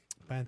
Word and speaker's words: pantalones: Pantalones. Pantalones. You gotta say it like pantalones. Pantalones. Gotta whisper it. Yeah, you guys. You gotta whisper so you can seductively speak and roll your R's.